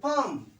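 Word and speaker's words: palm: ए एल M come P ए एल एम फम ए एल एम ओ एन D aunt okay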